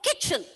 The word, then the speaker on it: kitchen: Kitchen. Even though the T, the letter T is not pronounced, don't forget to write the letter T there. It is kitchen.